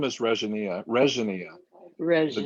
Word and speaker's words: Regina: My name is Regina.